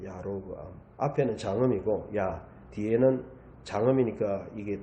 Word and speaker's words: 여로보암: 그런데 이걸 여로보암을 정확하게 발음하면요. 야로브암이에요. 야로브암.